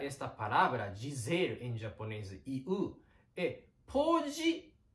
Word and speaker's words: 言う: Dizer em japonês é 言う、言う、言う、言う、言う。Quando pronunciar esta palavra, dizer em japonês 言う, pode pronunciar como you mesmo.